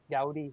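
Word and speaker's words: Goudy: I actually looked it up online and it says howdy. Like how you'd say howdy. Gaudy.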